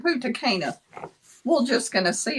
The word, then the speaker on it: Punta Cana: it's Punta Cana. He said, I'm pretty sure he said Punta Cana.